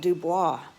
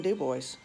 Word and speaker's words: Dubois: It's called Dubois, but in Louisiana, we would call it Dubois for our Cajun French pronunciation, but up there it's just plain Dubois.